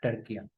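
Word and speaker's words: Türkiye: टर्किया को फतह कर लिया था। टर्किया, ये भी नेम चेंज हो गया, अब इसे टर्किया पढ़ते हैं। टर्की नहीं, टर्किया।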